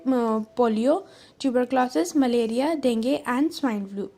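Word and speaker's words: dengue: वो थे polio, tuberculosis, malaria, डेंगू and swine flu. वैसे ही स्पेलिंग डेंगू लिखी है बट इसकी प्रोनाउंसिएशन डेंगे होती है.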